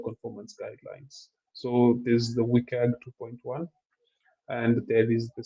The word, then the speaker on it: WCAG: So for WCAG 2.1, WCAG stands for Web Content Accessibility Guideline, WCAG. So that's this. I pronounce it as WCAG, but you can pronounce it in any other way.